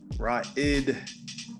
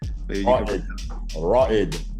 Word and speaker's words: Ra'id: All right, my brother, Curtis Ra'id De Veaux. And I know I messed up the Ra'id. Ra'id. There you go. That's the more Arabic, appropriate pronunciation.